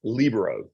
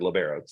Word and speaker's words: libero: It's not the Spanish word libero. It is libero, but people are going to look at you funny when you say it correctly, but it is one of the things.